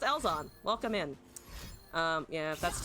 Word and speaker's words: Ellzawn: gameplay right now uh it's pronounced elzon welcome in um yeah